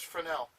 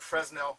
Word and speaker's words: Fresnel: I know it looks like Fresnel, but it's pronounced Fresnel.